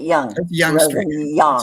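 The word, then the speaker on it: Yonge: like a person as young as y-o-n-g-e why why yeah but you pronounce it young it's young yeah it's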